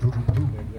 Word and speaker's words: Rurutu: Appelé Rurutu, en fait il se prononce Rurutu.